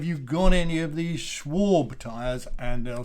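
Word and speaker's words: Schwalbe: I didn't want to ask for it because I was worried about getting the pronunciation wrong. But now that I know, have you got any of these Schwab tyres?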